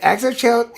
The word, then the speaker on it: Xochitl: I said, isn't it right that Exochilt is an acceptable secondary pronunciation for the Mexican way you say Xochitl? Isn't it right that both those count in Mexico?